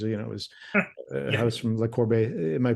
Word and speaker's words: Le Corbusier: of days because, it was a house from Le Corbusier. Am I pronouncing his name right? Le Corbusier?